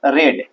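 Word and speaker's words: read: और रीडिंग का V3 क्या हो जाएगा, रेड। स्पेलिंग तो रीड वाला ही रहेगा लेकिन पढ़ेंगे रेड।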